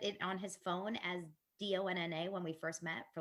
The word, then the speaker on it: Dana: So my name is pronounced Donna.